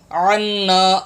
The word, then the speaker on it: عنا: زبر وا، واعفو واعفو عنا، انا نہیں، یہاں بھی لوگ غلط پڑھتے ہیں، انا الف خالی پڑھ رہے ہوتے ہیں، انا، یہ عین، عین نون زبر عن، عنا عنا، یہ وقف ہے، یہاں